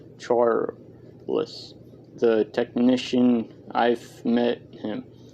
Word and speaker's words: Charles: flat and un inflicted he pronounced charles as if it had two full syllables charles the technician i've met